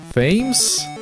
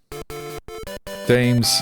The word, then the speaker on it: Thames: Thames? I think someone told me how to say Thames, and my brain was just refused to store the information. I'm sorry. Thames.